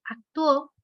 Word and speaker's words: actuó: Aquí la U es débil, la O es fuerte, pero actuó, me está pidiendo, escúchenlo. Actuó. No puedo decir que la sílaba tónica está en la A porque nos dice actuó. Me está diciendo que está en la U, porque si fuera la sílaba en la O, que dijeran actuó, pues ya está en pasado, pero dice actuó, lo está separando.